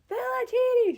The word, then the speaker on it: Philoctetes: and the guy doing the questions could not pronounce it. So, I'm like, "Philoctetes."